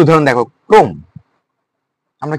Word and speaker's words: ক্রম: এই শব্দের প্রথমে কি রয়েছে? প্রথমে ব্যঞ্জন বর্ণ যুক্ত রয়েছে এবং র ফলা রয়েছে, কিন্তু ওই রেফ রেফ রয়েছে না, সে কারণে ওই অটা উচ্চারণ কি হবে? ও হয়ে যাবে, ক্রম।